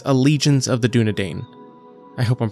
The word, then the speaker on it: Dúnedain: Well, I just went and looked it up and it's Dúnedain. All right, so there we go.